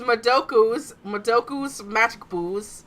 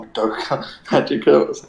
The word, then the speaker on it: Madoka Magica: Which is Madoku's Magic Booze and JoJo's Bizarre Adventures. I know, it's pronounced Madoka Magica.